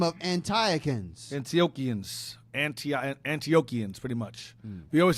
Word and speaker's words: Antiochians: It's easy in the book if you see a line under the CH, it's pronounced like a C or K, like Chaldeans, Antioch.